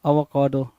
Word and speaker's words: avocado: Question number 15 क्या कह रहा है, अवागादो, अवागादो होता है ना, अवागादो, अवोकादो, अवाकादो है ना, सो अवो, AVOCADOS, अवोकाडो है ना, अवोकाडो, राइट।